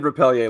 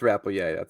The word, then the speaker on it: Rappleyea: I said Rappleyea last week. It's Rappleyea.